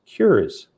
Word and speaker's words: QIRS: is qualified illness risk system qirs pronounced cures next slide cures purpose